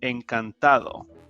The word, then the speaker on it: encantado: if you're a male nurse you can say encantado en cantado i will put the pronunciation at a later page if you're a